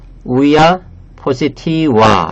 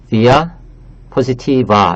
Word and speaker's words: via positiva: 여기서 이 라틴어의 V 이것을 우라고 원래는 읽어야 돼요. 그래서 우야 포시티와 이렇게 읽어야 되는데 워낙 그냥 이것을 그냥 그 V 발음으로 읽기 때문에 저는 via positiva 이렇게 V 발음으로 읽었습니다.